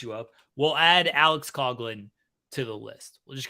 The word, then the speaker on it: Coughlin: Alex Coughlin, not Coughlin.